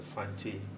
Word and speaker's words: Fante: is a cloth fante fante is the fante language in English spelled with just the Tes or fante but the correct sound is fante say that type of